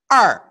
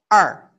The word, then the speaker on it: 二: How to pronounce it? Er. Yes. Obviously, two strokes, two heng, two, 两个, heng. Okay. Can you write it? Use your hand. Yes, er, 很好.